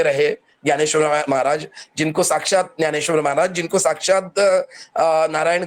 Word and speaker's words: ज्ञानेश्वर: गया आपके इसमें लेकिन मैं मराठी में ज्ञानेश्वर बोलूंगा अब ये थोड़ा सा हमें उच्चारण प्रनंसीएशन प्रनंसीएशन थोड़ा सा हमें सुधारना होगा यहां जो रहेगा न्यानेश्वरी रहेगा ज्ञानी ही रहेगा बोलने